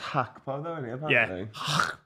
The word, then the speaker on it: Gakpo: got fresh trim G FR G it's it's pronounced hacko and Louis van Hall yeah and py yeah